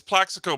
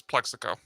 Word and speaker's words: Plaxico: Yeah, it's Plaxico Burris, but this person pronounced it as Plexico.